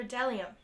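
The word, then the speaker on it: bdellium: B is for delium. We doubt anyone knows that delium is, but it's the only word dumb enough to begin with a silent B.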